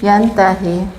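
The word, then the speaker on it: يَنْتَهِ: Maka nanti cara bacanya jangan dipanjangkan. Kadang ketika membacanya karena memahami mad silah sugro, kalau ada h sebelumnya berharokat maka dibacanya jadi panjang. Ini nggak boleh dipanjangkan karena h ini bukan h domir.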